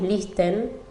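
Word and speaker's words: Leicester: que se dice elisa no pronunciamos la te lo decimos lister y también la un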